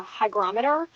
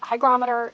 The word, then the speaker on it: hygrometer: I believe it's pronounced a hygrometer. I kept wanting to say barometer, but that's air pressure, I think. So this is a hygrometer.